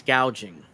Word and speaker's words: gouging: ban on proud price gauging on food no uh it's not price gauging it's price gouging she butchered that and she has and she has a teleprompter it's not price gauging is price gouging yeah let's see Stephanie